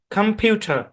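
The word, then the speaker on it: computer: অরজিনালি এখানে ও এর short sound হবে না কম হবে না এখানেও সো সাউন্ড এপ্লাই হবে ঠিক আছে তাহলে এই শব্দের উচ্চারণ হবে খাম কম্পিউটার কম্পিউটার খাম খাম সাউন্ডটা কেমন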